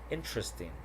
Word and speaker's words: interesting: Okay, so here the vowel immediately after a stressed syllable is frequently not pronounced. So here we have average, different, separate, comfortable, interesting, vegetable.